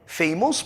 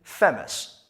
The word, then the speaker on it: famous: اگر شما تا به حال کلمه مشهور را famous میخواندین, تقاضا میکنم از این به بعد famous نخوانین و تلفظ کنین famous.